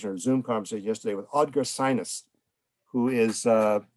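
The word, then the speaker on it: Synnes: conversation yesterday with audrey sinus who is pronounced sinus as in the nose okay but it's different spelling he's based in oslo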